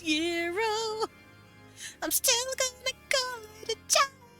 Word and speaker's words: gyro: he's going to get a gyro although it's technically pronounced hero I'm still gonna go